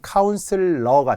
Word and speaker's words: 카운슬러: 그런 사람은 카운슬러가 됩니다. 카운셀러라고 많이 하잖아요. 카운슬러, 카운슬링. 이게 원래 스펠링, 원래 발음이라서 그래요.